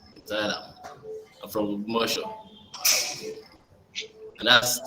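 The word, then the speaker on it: Temitayo Alamu: So um, I'm Timothy Alamu, you know, and the way I pronounce my name can be different from the way people pronounce it because it's my name. So Timothy Alamu.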